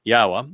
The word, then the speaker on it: Yahweh: We can pick up our our pace in this Yahwa which is the proper pronunciation of the name of God as directed by his Torah teaching regarding his higher existence.